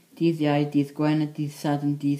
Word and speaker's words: Sadwrn: Saturday is dydd Sadwrn, spelled S-A-D-W-R-N. Sunday is spelled S-U-L, or until this seal, dydd Sul.